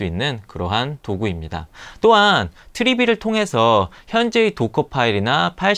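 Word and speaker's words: Trivy: 쿠버벤치, 파르코, 트리비. 처음에 트리비는 제가 트라비 뭐 이렇게 읽었었는데 홈페이지에 가서 읽어보니까 트리비, 트리거의 트리와 V의 V로 읽으라고 얘기되더라고요. 그래서 트리비라고 읽도록 합니다.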